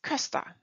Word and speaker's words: Köster: Wie schreibt man die Namen? Thies Köster.